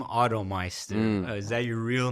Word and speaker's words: OttoMeister: I've spelt it in so many wrong ways, but I just know it's pronounced OttoMeister.